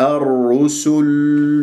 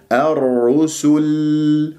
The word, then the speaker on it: الرسل: يكون عندي الرو، الرسل، ولا أفخم السين أقول صل، لا سو، الرسل، ولا لما أقف باللام لأنه راح تسكن اللام ما أسحب ضمة السين قبلها وأقول الرسل، نطقت اللام ولا زالت الشفاه مضمومة، هذا من الأخطاء الشائعة، انتبه الرسل، وهكذا ببينية